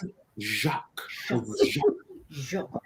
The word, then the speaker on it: Jacques: How do you pronounce it? Jacques.